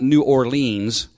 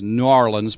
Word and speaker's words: New Orleans: have ever been to new orleans but they call it gnarlins down in new orleans you know they don't it's not new orleans it's new orleans but new orleans but